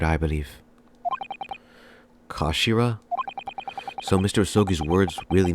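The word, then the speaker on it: 頭: end of the hilt it's written as head in Japanese but it's pronounced as Kashira I believe Kashira so Mr oi's words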